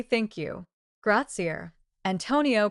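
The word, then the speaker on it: grazie: "Gratzier," Antonio pronounced carefully.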